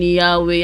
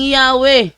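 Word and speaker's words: Yahweh: 195 nakalagay talaga doon while inclining to view the pronunciation yahwe as the more correct way we have retained the form Jehovah because of the people's familiarity with it since the 14th century so more correct way ang yahwe Hey I told you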